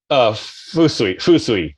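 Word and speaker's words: 風水: Fusui. Fusui. Awesome. Yeah. Wind is fu, and then sui is water.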